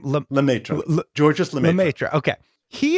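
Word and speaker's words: Lemaître: There was a guy and I can't pronounce his name. What's his name? Lemaitre.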